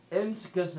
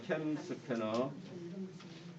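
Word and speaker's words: CamScanner: M 스캐너 했잖아 선생님. 캠 스캐너. 제 발음이 안 좋은가 보다. 아니, 캠 스캐너입니다. 캠 스캐너.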